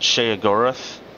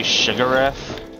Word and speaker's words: Sheogorath: In later games, they pronounce it Sheogorath, or Sheogorath. But in these earlier games, they're a little less consistent about the pronunciation. Sometimes they'll say Sigroth.